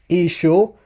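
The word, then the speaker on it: ܝܫܘܥ: the Eastern dialect so you hear the name of Jesus being pronounced as ISU ISU M okay now um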